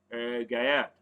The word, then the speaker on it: Gallard: Mind how I pronounce the name. I didn't say. Spanish pronunciation is Gallard.